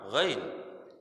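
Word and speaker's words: غين: Kalau pakai titik itu bacanya apa, Mas? Ain pakai titik itu apa? Ain pakai titik baca apa? Ghain.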